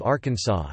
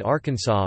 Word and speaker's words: Arkansas: In 1881, the pronunciation of Arkansas with the final S being silent was made official by an act of the state legislature after a dispute arose between Arkansas's two U.S.